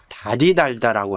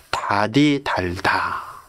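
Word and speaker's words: 다디달다: 이거를 달디 달다라고 하죠. 것도 달디 달다 그러지 않아요. 달디 달다가 아니라 다디 달다.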